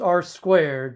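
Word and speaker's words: R²: us an r2 score r2 properly pronounced r squared because that's what it means it's r squared is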